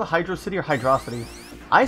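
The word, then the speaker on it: Hydrocity: And I know the director said it's pronounced Hydrosity. No, it's Hydro City.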